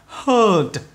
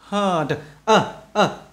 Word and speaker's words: heard: Đây các bạn, EAR nè, EAR, EAR thì lúc này nó âm O này, đó các bạn thấy chưa, âm này, đó, heard, heard, about là âm này, rồi,